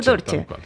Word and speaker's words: Torche: Pablo, pronuncié bien tu apellido. Pablo Torche.